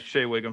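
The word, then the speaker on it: Shea Whigham: Shea Wingham? Is that how you say it? Yes, Shea Wingham.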